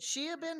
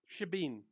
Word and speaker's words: shebeen: was it Sheabin or Shabines? Shebeen. The However, Shebeen. there we go.